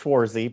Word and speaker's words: Schwartz: Is it Schwartz? Did I say it? Schwartz? How do you say your last name? It's actually pronounced Schwarzy, but it's a common mistake.